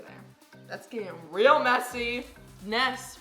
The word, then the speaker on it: Ness: Ness rhymes with mess. Yep, that's why I'm a big mess.